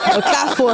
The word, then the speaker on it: Okafor: O cafó. F lá muito chocolate relógio e o sotaque é esse mesmo. É assim que pronuncia.